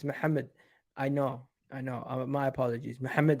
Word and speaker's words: Mohamed: Igal, it's not Mohammed, it's Mohammed.